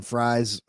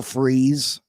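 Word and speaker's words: Fries: big names will freeze I was saying Fri that's how it looks like it's pronounced will freeze I think we need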